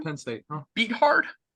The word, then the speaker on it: Beathard: Beathard? Bethard.